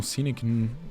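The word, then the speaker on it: Sinek: de um livro do Simon cek ou Simon cinec depende aí de de onde vem a sua pronúncia mas é o livro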